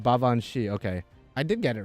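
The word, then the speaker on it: Baobhan: I just ruined her name baban Sith it's pronounced bavan okay I did get it right actually okay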